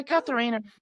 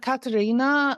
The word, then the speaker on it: Catharina: So Catharina is the more English pronunciation. But Katarina, my heritage is Dutch, which is, probably where the South African name also has come from. So that pronunciation is actually correct as well.